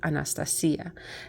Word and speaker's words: Anastasia: And now I know exactly how to pronounce her according to the Romanian pronunciation, and that would be Anastasia.